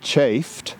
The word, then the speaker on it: chafed: line and that's why i pronounced the word chafed c-h-a-f-e-d with two syllables because we needed an extra syllable in that line and that's the way william colin bryant intended us to read it but let's count the syllables